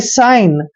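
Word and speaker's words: shine: का भी पता चलेगा एस एच आई एन ई देखिए एस एच को हम स लिखते हैं स और आगे सिंपल है आइन यानी कि साइन अब साइन क्या होता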